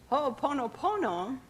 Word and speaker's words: Ho'oponopono: And in the Hawaiian language, every vowel is pronounced in the words. So, ho'oponopono.